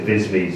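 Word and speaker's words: viseme: I think you pronounce it VISME, V-I-S-E-M-E, which basically covers every shape of the mouth will make based on saying something.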